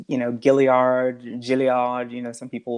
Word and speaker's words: Gilliard: you can find gilliard it's pronounced billiard which is it french french pronunciation it is it's it's yeah it's a french pronunciation um i i swear